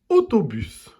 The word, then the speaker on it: autobus: Prenons le mot autobus. On entend le son O dans la première et la deuxième syllabe. Dans la première syllabe, encore une fois, ce sont les lettres A et U qui font le son O. Et dans la deuxième syllabe, c'est la lettre O.